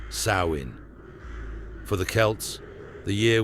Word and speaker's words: Samhain: Britain, where people celebrated the festival of Samhain, pronounced Samhain.